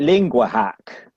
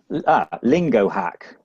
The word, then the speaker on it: LingoHawk: Is it Lingua Hack? Lingo Hack. Okay. Lingo Hack.